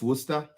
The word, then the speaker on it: Worcester: that's a sauce ah so is it just Worcester yeah it's just Worcester okay like yeah okay so